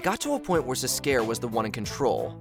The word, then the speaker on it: Zs'Skayr: Come on guys, his name is literally pronounced as Zs'Skayr.